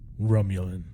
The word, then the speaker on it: Romulan: Roman star Empire and Paul says Romulan it's pronounced Romulan and then cuts to commercial cuz that's a